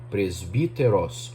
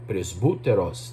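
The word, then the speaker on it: πρεσβύτερος: Presbítero, que no grego é a palavra presbíteros ou presbúteros, dependendo da pronúncia do grego que seja adotada.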